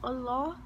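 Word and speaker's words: الله: How you pronounce it in Arabic is Allah.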